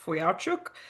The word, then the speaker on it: Fujarczuk: It's It's pronounced Fuyachuk, but it's easier just to say.